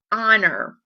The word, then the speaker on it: honor: So I want you to look for the word honor. This H at the very beginning of the word is silent, so you need to highlight that with your pink colored pencil.